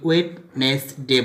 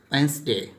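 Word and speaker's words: Wednesday: যেমন ধরো অবসিন, এখানে C silent, next D, D usually silent before N, অর্থাৎ ডি থাকবে বিফোর এন, এন এর আগে সাইলেন্ট থাকবে, অর জি, জি এর আগে।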